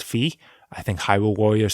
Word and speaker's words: Fi: example of the game fee I hear people pronounce the name is v but I'm pretty damn sure it's fee I think Hyrule warriors says 5 but [